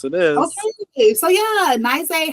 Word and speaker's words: Nyzah: I'm your host, Sai, and today we are here with the amazing Nyzah. I'm pronouncing it right? Okay, really close is Nyzah, Okay.